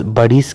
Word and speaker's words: بڑیچ: ہے، پشتو میں تلفظ بڑیس کیا گیا ہے۔ پشتو میں ڑ کا تلفظ اردو میں ڑ سے ہوتا ہے اور سین کا تلفظ سین اور چ دونوں کی طرح ہوتا ہے۔ چنانچہ خان روشن خان